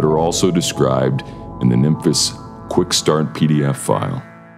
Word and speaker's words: Nymphes: the dreadbox nymphus and i'm pronouncing it the greek way sounding sort of like memphis a city in the u.s it is a compact